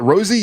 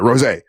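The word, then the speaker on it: Rosé: The very first performance was Bruno Mars and is it Rosie? Is that how you say it? Or Rose. Sorry, Rose.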